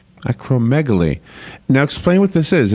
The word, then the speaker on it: acromegaly: phone with us about the word i can't pronounce acromegaly how do you say it acromegaly acromegaly now explain what this is it's a non-cancerous